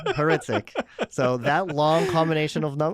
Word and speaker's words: Hrycyk: in and then HR y c y k as my last name heric so that long combination